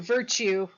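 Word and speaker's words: virtù: three key words power and I'll pronounce it virtue but I mean something very specific by that and Fortuna so Machiavelli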